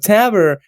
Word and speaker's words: Taber: episode you know with tavr or tabor right i'll say i'll say it correctly right taber right and kevin right